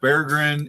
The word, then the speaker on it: Berggren: Berggren. It's pronounced Berggren.